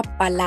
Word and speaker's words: pa: Para decir para, a veces hablando rápido suena como pa, ¿verdad?